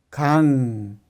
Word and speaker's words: 강: Pero con un ciclo como 받침, la pronunciación es 공, que significa pelota, 공. Y otro ejemplo, 강, que significa río, 강.